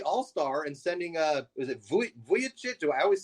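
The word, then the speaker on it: Vučević: And as far as getting rid of your only all-star and sending, is it Vucevic? Do I always say it wrong? Vucevic. Nikola Vucevic, yeah.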